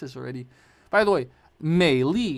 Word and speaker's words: Meili: By the way, Meili is how you say her name in Mandarin.